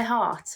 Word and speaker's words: heart: you are in my heart when you say the word heart French speakers they don't always pronounce the H so it becomes art similarly they seem to